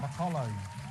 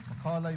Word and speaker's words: Macaulay: Makulay? Macaulay, boss.